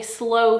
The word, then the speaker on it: SLO: spent so there is something called a slow funnel and it's spelled slo and it stands for